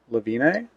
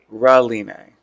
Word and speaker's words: Reline: And her name? Lavine? Reline. Okay, yes. Reline, yeah.